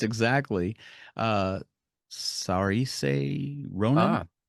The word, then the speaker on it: Saoirse: the first name I don't know how to pronounce exactly. Uh, Sarise Ronan. Ah, Saoirse Ronan.